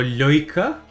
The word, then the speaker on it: lurker: On a lurker. Or loika, also heard it pronounced.